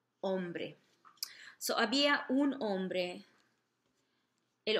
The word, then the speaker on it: hombre: hombre, hombre, había un hombre, don't forget your H's in Spanish at the beginning are silent, the H's are silent, so you wouldn't pronounce it, you could just start with the O, hombre, so había un hombre.